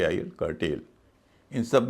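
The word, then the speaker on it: curtail: करेल सी यू आर टी ए आई एन कर्टेल इन सब में ए आई शब्द के दूसरे हिस्से में है लेकिन उसका उच्चारण लंबा वाला ये हो रहा है इसलिए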